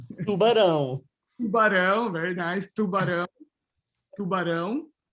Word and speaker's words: tubarão: Tubarão. Tubarão, very nice. Tubarão. Tubarão. Uh-huh. Oh, and for the longest time, I thought it was tiburão Tu. Uh-huh. because I've was creating it based on Spanish.